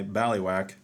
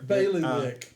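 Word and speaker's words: bailiwick: forward is not my B whack but rather a declaration further forgive my did I pronounce bwack all right let me go back Bailey Wick Bailey Wick okay uh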